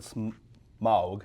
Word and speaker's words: Smaug: Yep, and I'm going to pronounce it Smaug, right?